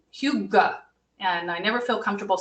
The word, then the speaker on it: hygge: If you've ever been in an IKEA, you might have a little practice with this, but it's spelled differently than it sounds. It's hygge, and I never feel comfortable saying it, but I feel comfortable in it.